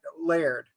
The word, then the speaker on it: Laird: there and he goes my name's Laird layered like that Laird one syllable layered and they keep going